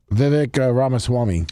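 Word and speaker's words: Vivek Ramaswamy: Let me Vivic Ramaswami.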